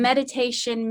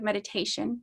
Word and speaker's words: meditatio: I always want to say toe as in toe, T-O-E, and that's not it.